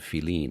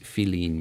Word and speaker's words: filin: and it's in Cuba they spell it F-I-L-I-N, which is the way it sounds in Spanish, or how it's spelled in Spanish.